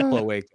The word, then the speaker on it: cloaca: It's pronounced cloaca.